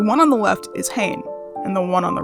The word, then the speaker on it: Hain: two characters the one on the left is Hayne and the one on the right is lon